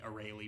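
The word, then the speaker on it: Arale: for array Lee or the sub uses the or Olly pronunciation but at least in classic Dragon Ball the mm with the array Lee pronunciation and I'm used to that so I'll be calling her array Lee and cuz that's right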